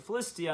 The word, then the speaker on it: Philistia: name Palestine comes from, Palestine is the Roman pronunciation, the Latin pronunciation of Philistine, or Philistine, or Philistia is really how they pronounce it. They pronounce it Philistia, and then it becomes Palestine.